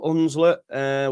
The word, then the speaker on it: Hunslet: Shout out to the Hunslet Club in Leeds. Big up Hunslet with a silent H.